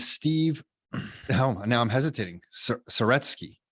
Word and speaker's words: Saretsky: Saretsky. How do I pronounce it? Boom. You nailed it.